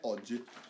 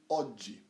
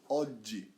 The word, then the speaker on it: oggi: Make sure you say that double G, alright? Don't say oggi. Say, make a stop, make a pause in the middle of the word. Oggi, alright? That's how you pronounce the double G, alright?